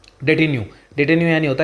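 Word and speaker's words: detenu: ठीक है, इसलिए मैंने यहाँ पर उनका प्रोनाउंसिएशन लिखा है। तो क्या लिखा है? डेटिन्यू।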